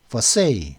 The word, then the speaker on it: Versailles: 그 다음에 versailles, 이건 versailles, 영어식 발음은 versailles입니다. versailles, LLES는 무음입니다. 발음을 안 해버리더라고요. 영어로는 versailles라고 하는데 versailles.